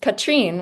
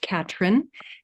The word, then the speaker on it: Katrine: Um, Katrine, would you like to come share? Hi. Um, my name is pronounced Katherine and uh I um